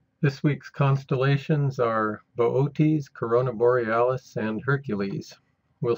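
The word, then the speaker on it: Boötes: sky where boot is bootes is pronounced in three syllables so it's bootes here's the asterism we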